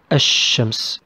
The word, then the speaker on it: الشمس: The example for Al al-Shamsiya, Al-Shams. We didn't pronounce L here. Okay.